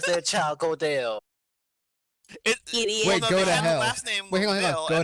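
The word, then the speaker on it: Gödel: It's Godel. Godel. Yes. I hear go to hell.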